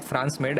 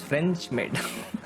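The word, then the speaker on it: French maid: इट्स नॉट फ्रांस मेड, actually it's फ्रेंच मेड।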